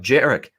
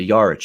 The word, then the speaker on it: Jarek: guests to arrive, Jarek, I'm not calling you Yarich anymore. I'm sorry. I didn't realize for all that time. It just seems like when I see it spelled that's how you pronounce it, but it's Jarek, which you told us when you were on the first Betcast with us that it's Jarek.